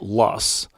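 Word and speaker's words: loess: Spelled L O E SS and pronounced lust.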